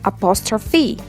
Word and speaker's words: apostrophe: The correct pronunciation of the word apostrophe is apostrophe.